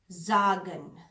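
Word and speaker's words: sagen: Deutsche में कहते हैं जागन। जागन एस से शुरू होता है और आपको मैंने अल्फाबेट्स में बताया था कि एस को जेड, जेड को एस हम प्रोनाउंस करते हैं जर्मन में।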